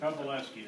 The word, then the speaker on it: Kowaleski: Kowaleski, the W is pronounced like a V.